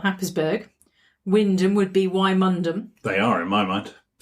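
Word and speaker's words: Wymondham: Okay, is if you just look at things like Haysborough, actually spelt Happisburgh, Wyndham would be Wymundham. They are, in my mind. And isn't there a pronunciation of Stratton Strawless that's completely different to how it's spelled?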